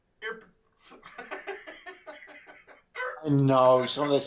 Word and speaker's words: Irpin: So it sounds like you're burping. Irpin.